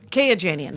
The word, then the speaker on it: Kayajanian: How would you pronounce her last name? Kayajanian.